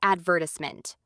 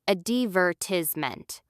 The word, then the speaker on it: advertisement: And what about advertisement? Americans often say advert i s e me while British people say a divertisment.